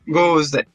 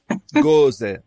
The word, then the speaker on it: Gose: Como é que se pronuncia exatamente? Gose. Gose.